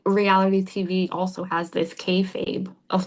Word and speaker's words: kayfabe: And it's this level There's this idea in professional wrestling of kayfabe. Do you know this term? I'm not sure. It's spelled k a y f a b e, kayfabe.